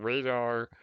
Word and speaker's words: Raidar: again I call it I think it's radar or it's rating is what it is but radar or radar uh but yeah Radar Radar there you go but it's spelled raid like r a i d radar yeah okay that makes